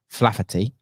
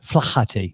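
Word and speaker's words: Flaherty: chairman of ketchum rob flafferty as i was told i think it's flathead there we go yeah the silent is a silent h flachati the chairman of ketchum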